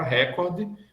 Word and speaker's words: recorde: essas por exemplo recorde a palavra recorde que não pode ser proparoxítona porque a a penúltima sílaba cor é fechada aí você pode dizer